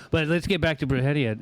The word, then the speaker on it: Brujeria: Then when Jerry had once told me about Bruhia, how long at least you can say it right. Most people are bruia.